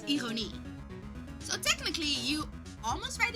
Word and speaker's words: ironie: Oh, if you wanna know, like, the irony in Dutch, it doesn't end with the Y, it ends with an I and an E. So you pronounce it as ironie.